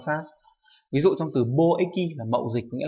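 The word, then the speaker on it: 貿易: Do vậy dù nó có hai cái đọc là eki và y thì cách đọc đúng phải là bo eki và ko eki chứ không phải là bo y hay là ko y.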